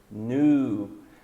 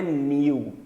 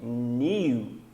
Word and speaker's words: new: Novo, new. Não é new. Sei que vocês aprenderam new, só que new vai ser no inglês britânico.